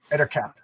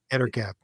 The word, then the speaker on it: Ettercap: How do you pronounce this character's name? Where are we? Monsters. Oh, the Ettercap? Yes. Ettercap. Ettercap.